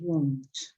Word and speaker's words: won't: careful with the pronunciation of wait this is pronounced let's see it won't won't yes let me stress it won't yeah